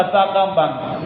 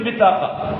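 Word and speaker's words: بطاقة: அரபி தெரிஞ்சவங்க எல்லாரும் பத்தாக்காம்பாங்க. அது சரியான உச்சரிப்பு பித்தாக்கா.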